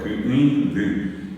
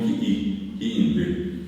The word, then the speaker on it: Ku'indu: La palabra que les dije que es Kaanendu, y al lado está la palabra Ku'indu, bien pronunciado, Ku'indu, que hoy entonces decimos Ki'indu.